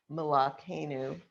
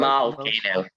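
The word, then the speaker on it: מלכנו: Baruch Eloheinu, Baruch Adonenu, Baruch Malakenu, Baruch Malkenu. Yeah, if you want to do it right. Malkenu, right? It's a short vowel, so it ends the syllable.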